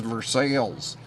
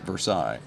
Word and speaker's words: Versailles: get there everybody's says this is verses not Versailles so um anyway well